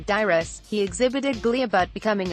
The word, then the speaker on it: Dairis: of the proceedings after giving media the correct pronunciation of his name dyrus he exhibited glia but becoming a part of